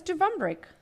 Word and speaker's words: Dubrovnik: You want to try to pronounce this one? That's Dubrovnik.